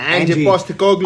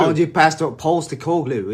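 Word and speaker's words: Ange Postecoglou: Is that how you pronounce it? Angie. Yeah, Angie Postecoglou. Angie Postecoglou.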